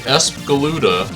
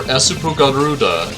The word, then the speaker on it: Espgaluda: should clarify upfront that ESP galuda or esup galuda in its original pronunciation is not only my